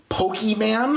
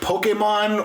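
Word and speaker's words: Pokémon: um if you say the word poke man and not and not like Pokemon or Pokemon or like anything that's close to the way it's supposed to be pronounced just go ahead and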